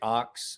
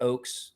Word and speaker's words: Oakes: those production offspray that eric ox or i'm sorry eric oakes because i continue to mispronounce his name eric oakes contacted me